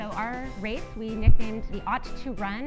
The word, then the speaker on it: Aut2Run: So our race, we nicknamed the Ought to Run. It's oftentimes mispronounced as auto run, and it drives me nuts. But the Ought to Run, meaning autism, and that it's a running event, was created 3 years ago.